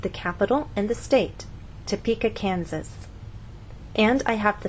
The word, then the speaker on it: Topeka: be misunderstood for example if you tell any American that you have friends in topa kenzas they're going to look at you and ask what country is that in what continent is that on but if you move the stress to the correct place and try again tell the Americans that you have friends in Topeka Kansas now they'll understand there